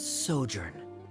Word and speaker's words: sojourn: Director Zosimos, how do you pronounce this word? Oh je. Let me see. Ah, that's sojourn.